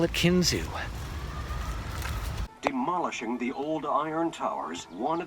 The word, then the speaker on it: Kinzua: for that place anyway someone told me that Kinzua is not wrong but that locals call it Kinzua so a little travelers